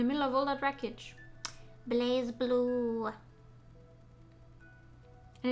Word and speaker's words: BlazBlue: of all that wreckage blaze blue and it is pronounced blaze blue but it's written without the e that you would normally put in place i still don't know